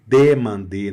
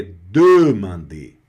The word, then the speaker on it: demander: Tenir, segurar, manter, demander, não é demander, não é demander, porque não tem acento, tá vendo? Então não é demander e nem demander, é demander, tá claro?